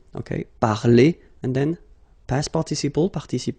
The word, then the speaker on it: parler: The funny thing is that phonetically they are the same. So infinitive parler. So if you remember, we saw that previously. So I mean, this combination of two letters at the end of the words normally gives the sound e.